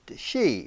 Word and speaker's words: Sidhe: the she anyway and it's spelled by the way in gaelic s-i-d-h-e but pronounced she we've all heard of